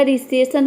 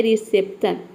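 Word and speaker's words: reception: उच्चारण गलत हो जाएगा तो यहां पे पी लेटर को हम प्रोनाउंस करते हैं ये होता है रिसेप्शन जहां पे पी और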